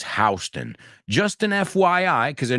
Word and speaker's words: Houston: it's really interesting because it's spelled exactly the same as the city in Texas where Richard was born Houston right in fact when we say that famous movie line we say Houston we have a problem but the name of the street although it's spelled the same is hon just an FYI because